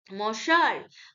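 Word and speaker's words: monsieur: মশার, ওকে, মশার, মশার, সারি উচ্চারণ হবে, সিএইচ ইয়ার, চের হবে না। মশার মানে মাই ডিয়ার, ফ্রেঞ্চ ওয়ার্ড আর কি, মশার, my dear sweet heart, he ইজ a sweet heart.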